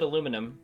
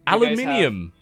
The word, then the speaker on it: aluminium: We pronounce it aluminum. Aluminium. Aluminium. There you go. Yes. It sounds like You can't say aluminum. There's like several I's in that word. You can't just ignore them.